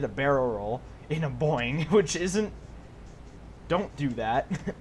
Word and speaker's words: Boeing: The only problem is people make fun of me because I say it wrong. The only reason why I say it wrong is because it's more funny to say boing. Boing. It's technically a boing, which isn't easy to say necessarily, and even that's kind of wrong.